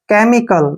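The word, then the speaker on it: chemical: को कैसे पढ़ते हैं मैं दोबारा बताता हूं आपको जब किसी वर्ड के शुरू में सी एच के बाद ई आए और ई के बाद फिर से एम आए तो सी एच को क पढ़ना है जैसे केमिकल केमिकल में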